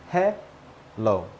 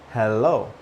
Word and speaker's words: hello: Hello. Hello. Hello. No L in the first syllable. No L in the first syllable. Then we have hello. Hello. There is an L in the first syllable in this case. Now, both are correct, except one doesn't have an L in the first syllable and the other one does.